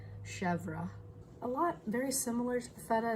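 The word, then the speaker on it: chèvre: I guess I was saying it wrong before. It's actually Chevre.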